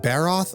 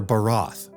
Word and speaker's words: Barath: Hold on, is it Barath or Barath? Okay, well, whatever, I pronounce it both ways.